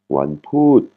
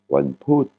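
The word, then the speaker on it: วันพุธ: Mercredi, Wanput. Là, on a une voyelle courte, qui est le OU, et une intonation qui tombe. Wanput.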